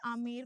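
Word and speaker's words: Amber: अगर आप कभी आमेर गए हैं, आमेर का किला गए हैं, आपको पता होगा इंग्लिश में आमेर को ऐसे लिखा जाता है जहां पे बी साइलेंट होता है।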